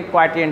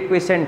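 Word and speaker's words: quotient: देखो रेस्पिरेटरी क्वाट एंट क्सेंट पढ़ते हैं लेकिन क्वाट हम लोग बताते स्पेलिंग थोड़ा टे है रेटरी क्सेंट है लेकिन क्वाट पढ़ा जाता है क्या है कुछ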